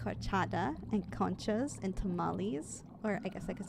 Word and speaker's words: tamales: But there's a lot of things I do enjoy, like horchata and conchas and tamales, or I guess I could say tamales.